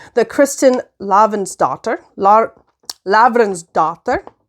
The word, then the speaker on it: Lavransdatter: Lavransdatter. The reason I say it like that is because it's Norwegian.